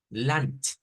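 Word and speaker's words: Land: terminación en este caso es una t lant lant y en el inglés es como con d o sea en el inglés se lee así como está aquí nd pero en el Alemán se lee nt entonces hay palabras que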